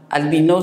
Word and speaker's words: albino: Albino, c'est prononcé albino.